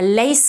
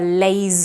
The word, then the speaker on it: lace: lace of lace of a lace of white foam instead of a lays of yeah a lace of